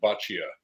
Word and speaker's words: Boccia: him do it no that's good it's bachia yep nice to meet you uh before we